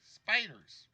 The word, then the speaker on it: SPDR: and poor depository receipts known as spdrs and pronounced spiders at what fraction of